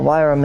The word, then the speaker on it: Wyrm: Because it's called Wyram, which is pronounced worm, but it's Wyram. That's the irony in it. But let's just get one thing straight. There is a Wyram, which is pronounced Wyram or worm, and then there is a worm, pronounced worm.